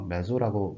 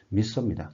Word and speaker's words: meso: 이거 메소라고 뭐 한국에선 많이 얘기하는데 미소입니다. 정확한 발음은 그렇게 여러분들이 이해하시면 되고요.